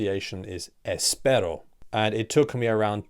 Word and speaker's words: espero: the word I just assumed that it was pronounced Espero but actually the correct pronunce iation is Espero and it took me around 2 years to